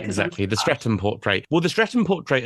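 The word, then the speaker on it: Streatham: portrait stram it's not it's actually stram is a part of South London it's not far from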